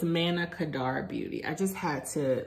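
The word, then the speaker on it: Manna Kadar: I am supplied with one okay so it's Mana Kadar Beauty I just had to look that up so I pronounced it correctly this is actually a video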